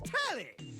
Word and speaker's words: Tally: The name's Tally. Rhymes with Nelly like Whoa, Nelly.